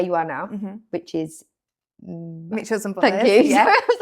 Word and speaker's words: Mitchells and Butlers: And then you moved into where you are now, which is Mitchells and Butlers. Thank you. Yeah. I was like, Mitchell, I didn't want to say it wrong. No, it's Mitchells and Butlers, but everybody, I literally still have to go to meetings now.